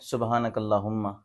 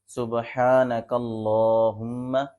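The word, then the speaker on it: سبحانك اللهم: درست تلفظ یہ ہے سبحانک اللہم، لفظ اللہ کو موٹا بھی پڑھیں گے، اس کے اوپر جو کھڑی زبر ہے اس کو بھی تھوڑا کھینچ کے پڑھیں گے۔ آگے لفظ آتا ہے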